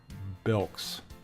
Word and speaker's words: bilks: I don't think I've ever, or see, it rhymes with milk. Bilks.